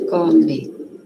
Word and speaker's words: come: A gente come. Professora, a gente pode falar come, né?